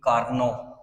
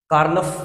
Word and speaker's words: Karnaugh: जब हम लोग इसको प्रोनाउंस करेंगे तो इट वुड बी कार्नोव। कार्नफ भी इसको लोग प्रोनाउंस करते हैं। बट the actual pronunciation is कार्नोव।